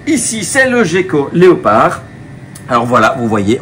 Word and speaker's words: gecko: j'ai bien dit gecko souvent j'entends que les gens confondent un petit enfin confonde appelle ça des geekos la vraie prononciation c'est gecko puisqu'il s'agit du terme local à l'origine pour désigner ce genre de petit lézard c'était des gecko donc on dit bien gecko et non pas Geko ici c'est le gecko